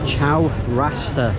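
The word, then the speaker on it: Chowrasta: here in Penang yes I did pronounce her name wrong it's Chow raster market since very busy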